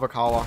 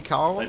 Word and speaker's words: Oikawa: I love Okawa. Okawa is such a cool character. Lars, you're saying... You're not saying it right, but I think they'll forgive you. Oikawa?